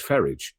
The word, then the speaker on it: Farage: even more, Kieran, is when you pronounce his name the way it should be pronounced, which is Farage, which is how the rest of his family pronounce it. While Nigel Farage would want the French-sounding pronunciation of his name, I don't know.